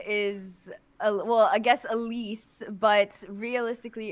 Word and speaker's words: Elyse: conversation about your name everyone's just saying it wrong because it's actually French isn't it and then okay okay tell me about this so my my actual name is well I guess Elise but realistically it's Elis